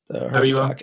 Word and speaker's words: Habiba: Habiba? I can't pronounce that first. Yes, Habiba.